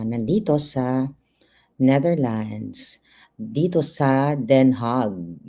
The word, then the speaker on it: Den Haag: Dito sa Den Haag, yun pala ang tamang bigkas ng kanilang lugar. But in English, ang mga English speakers ay The Hague. Pero ang tama ay Den Haag.